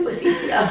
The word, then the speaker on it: Leticia: Oh, it's not Letty, it's Leticia.